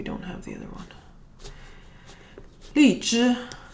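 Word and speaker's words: 荔枝: Li zhi. Li zhi is lychee. I think that's how Americans say it, lychee.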